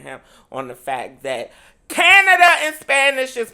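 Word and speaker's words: Canadá: while I'm educating him on THE FACT THAT CANADA in Spanish is pronounced Canada, honey.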